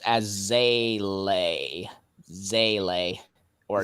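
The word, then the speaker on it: Seele: It is in fact pronounced as Zele. Zele. Or Zayla. Zayla? Zayla? What the fudge, man? It's not pronounced seal, it's Zayla?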